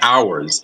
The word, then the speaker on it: OWRS: Actually, it's funny that you call it my app because it's called the Hours. It's pronounced the Hours. It's spelled OWRS, or it's the Old World Ruins and Structures app.